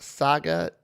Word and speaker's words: Saga: go uh answer patreons my name is pronounced like saga tale story oh saga like a tale or a story saga okay i'll remember